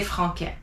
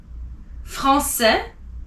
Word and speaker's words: français: So again, français has a CCD because you don't want to say franquais.